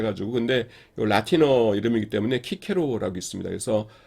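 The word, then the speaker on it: Cicero: 있는 것이 사람 중에 하나 예를 들자면 어 키케로 있죠 어 키케로 키케로 키케로 스펠링 어떻게 되냐면 c c 옵니다 근데 읽기는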